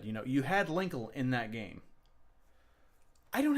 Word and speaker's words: Linkle: Linkle rhymes with sprinkle and dinkle and tinkle.